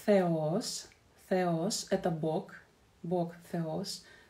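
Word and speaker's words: θεός: И эта буква theta, theta. В таких словах она присутствует как theos, theos.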